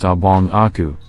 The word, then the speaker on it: Á Bao A Qu: beings in Malaysian mythology there is a creature named bowachu which is generally accepted as being pronounced obong Aku which means my elder brother others however assume a